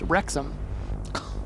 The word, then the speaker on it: Rexham: I think we're mispronouncing his name. It's not Rexon, it's Rexham.